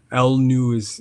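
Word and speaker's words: Lnug: How do you pronounce it? l n u g is lung. Yeah, or l news is how some people pronounce it, but lung.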